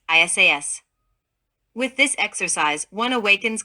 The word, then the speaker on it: Isis: is the Divine mother this mantram is pronounced by prolonging the sound of each of the four letters that constituted Isis divided into two syllables isas with this exercise one